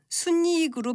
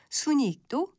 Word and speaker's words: 순이익: 이 경우는 니은음을 첨가해서 순이익으로 발음하는 것이 원칙인데요. 연음에서 발음하는 순이익도 가능합니다.